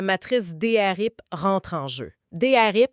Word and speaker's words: DRP: Drip ça s'écrit DR P.